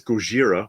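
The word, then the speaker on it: Gojira: no look M says goira which of course is the proper pronunciation of Godzilla with a peculiar color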